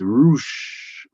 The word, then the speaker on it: Rush: pronouncing it wrong it's it's roosh if it's mexican okay bruce is my